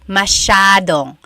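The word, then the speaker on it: masyadong: Elijah said, "How do you pronounce mashadong?" Mashadong means a lot. So the s ya is a sha sound.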